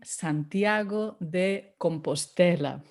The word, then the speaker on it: Santiago de Compostela: santiago or if you want the full name santiago de compostela i won't repeat any of the wrong pronunciations i've heard just stay with santiago de